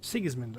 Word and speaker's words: Sigismund: who side with King Sigismund. Sigismund. Okay, that's how it's said.